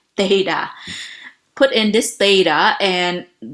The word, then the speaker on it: theta: how to pronounce it before your tongue had to go in between the teeth and say theta put in this data